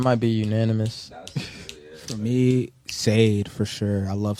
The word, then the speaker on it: Sade: For me, Sade for sure. I love Sade. Sade. Sade.